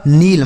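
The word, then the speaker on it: kneel: N double E एल तो के के साथ यहां पर भी एन है तो के साइलेंट हो जाएगा।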